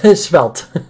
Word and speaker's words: Svelte: How do you pronounce this one? Is Svelte? Svelte.